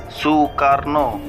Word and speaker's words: Soekarno: Menurut ejaan lama itu, bunyi U dituliskan dengan huruf OE.